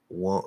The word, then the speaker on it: won't: tongue is still here won't won't just make that o a little bit more nasally uh now there's another